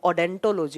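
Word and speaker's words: odontology: उसको आप ओडेंटोलॉजी बोलते हैं। ओ यहाँ साइलेंट रहता है, जब आप प्रोनाउंस करते हैं तो उसको डेंटोलॉजी नाम से प्रोनाउंस करते हैं।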